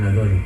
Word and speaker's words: Aghori: The holy ash is the main thing for an Aghori.